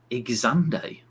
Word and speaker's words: Xande: Xande. I like that pronunciation.